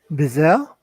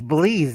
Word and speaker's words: Belize: bananas for dole corporations so bizel or belize belize that's how you pronounce it belize it's nice and completely